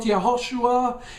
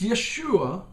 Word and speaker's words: Yeshua: are model and yes it's not yahushua it's Yeshua okay Yeshua our Messiah okay